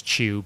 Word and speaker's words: Chu: follow-up series to chew which can also be pronounced as chew but spelled Chu uh John Layman uh